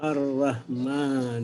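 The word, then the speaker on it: الرحمن: Ar-Rahman. Dan itu memang harus dilatih. Ya, dilatih. Karena memang ada kemiripan dengan bahasa kita, tapi beda dalam karakter sifat pengucapannya dan sifat dari huruf-huruf tersebut.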